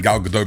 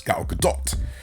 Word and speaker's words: Gal Gadot: ] now gal gadot now i'm saying gal gadot because she likes it pronounced that way yeah gal gadot i was saying gal gadot before because i was trying to sound posh it's not the way it's pronounced it's gal gadot i think she's perfect